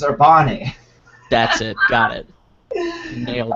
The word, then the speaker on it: Urbane: It's pronounced Urbane, right? Urbane, I think. Urbane? Urbane. Yes. It's Urbane.